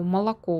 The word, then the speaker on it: молоко: например по русскому языку на какой слог падает ударение в слове молоко и так у нас с вами будут варианты ответов первый вариант у нас первый слог 2 у нас уже автоматически то добавился ну и третье собственно больше у нас с вами нет мы должны с вами отметить какой из вариантов ответов является правильным поскольку молоко у нас ударение падает на третий слог мы должны с вами